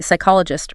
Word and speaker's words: psychologist: Silent P, psychologist, receipt.